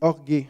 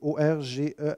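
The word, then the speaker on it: orgê: Le mot, c'est orgué, c'est O-R-G-E avec un petit chapeau. Ou orge, si on dit, non, mais ça se prononce orgué.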